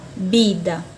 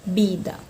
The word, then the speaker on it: vida: Porque o V tem sempre som de B na língua espanhola, tá bom? Se fosse a palavra aqui, vida, que também existe na língua espanhola. Na língua portuguesa eu pronuncio vida. Na língua espanhola, bida, bida.